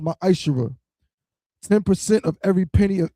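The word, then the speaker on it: מעשר: Means 10th in Hebrew, and it's pronounced ma'ashera.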